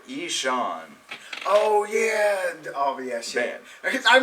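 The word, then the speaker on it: Ihsahn: it but it's it's it's spelled i i a i h s a n but it says here Ean oh yeah OB yeah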